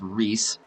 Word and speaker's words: Reese: I will just correct you here and say that it's actually pronounced Reese, but that's okay.